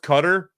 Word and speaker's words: Qatar: ripping on Qatar ah I believe it's pronounced cutter anyway actually it was Genghis